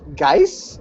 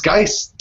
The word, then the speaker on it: Geist: Hey, is it Seth Geis? Is it really Seth Geis? It's Geist. Rhymes with dice.